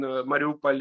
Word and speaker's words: Mariupol: Yes, now you are not Mariupol, you're no, it is pronounced actually the same both in Mariupol, in Russian and Ukrainian. The difference just in spelling, one letter.